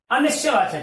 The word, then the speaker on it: अनिश्चयवाचक: अनिश्चयवाचक, देखिए उच्चारण में कई बार मिस्टेक हो जाती है। अनिश्चयवाचक है, अनिश्चयवाचक नहीं। ए को अलग नहीं करना है।